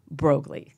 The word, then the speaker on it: Broglie: will you please welcome to my show, Julia Broglie.